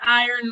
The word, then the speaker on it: IREN: i'll show you yeah it's iron like iren tv gotcha you gotta love